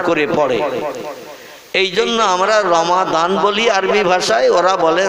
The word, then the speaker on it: রমাদান: মত অবলম্বী বা অন্য মতদর্শের মানুষ ওরা দোয়াত উচ্চারণটা ঠিক মতো করে না। ওরা দোয়াতকে, যেমন রমজান আরবি ভাষায় লেখা, ওরা বলে রমজান, বলে না?